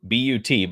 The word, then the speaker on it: But: it's all prospects against prospects but you know but still I don't know if people know this or not by the way bu buut but it's pronounced bu is French for goal